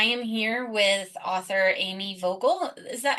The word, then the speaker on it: Vogel: And I am here with author Amy Vogle. Is that how you pronounce that?